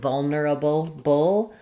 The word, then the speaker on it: vulnerable: So I like to just break it apart. We have first syllable stress.